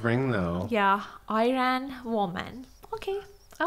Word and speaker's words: Iran: Yeah, and I want to use also this opportunity to say the correct way to pronounce Iran is Iran, not Iran, because Iran means I ran away.